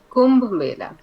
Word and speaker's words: Kumbh: huge spiritual event called Kum or kumb how do you pronounce in India Kuma Kum Kum Kum is the word Kum yeah and so